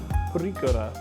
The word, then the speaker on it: purikura: they're called, as best as I'm able to pronounce that, purikura.